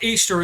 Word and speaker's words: Ishtar: Who is Ishtar? Easter is the correct pronunciation.